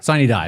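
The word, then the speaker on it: sine die: Uh, sid how do you pronounce it? Yeah, sid. Siny die. There we go. I always get it mixed up. Siny die.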